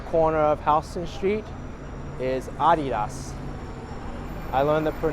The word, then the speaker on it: Adidas: and on the corner of Houston Street is adios I learned that for not the correct way to pronounce that from a video many people incorrectly pronounced it as adidas but that's incorrect but it comes from -